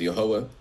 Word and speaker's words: Yahweh: So, we pronounce his name as Yahweh. Many people pronounce his name as Yahweh and that comes from the Hebrew text.